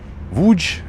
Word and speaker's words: Łódź: change in Polish language when the L letter is crossed over they pronounce it as a double V.